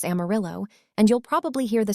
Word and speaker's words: Amarillo: Spanish speakers pronounced it the traditional way, but when the railroad arrived during the 1880s, conductors announcing station stops couldn't pronounce the Spanish double L.